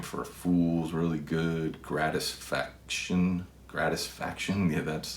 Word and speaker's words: Gratisfaction: Gratisfaction. Yeah, that's how you pronounce it.